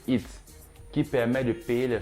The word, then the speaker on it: ETH: a pour utility token le ETH prononcé it qui permet de payer